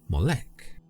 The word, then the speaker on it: Molech: Moolok, sometimes pronounced as Molec, is a name that